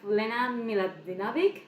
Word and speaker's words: Lena Miladinovic: That, in case you don't, we have Lena Miladinovic. That's the right way to say it.